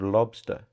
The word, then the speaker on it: Lobstr: And the decentralized digital wallet that Elon Musk showed the whole world is called Lobster, and it's spelled Lobstr.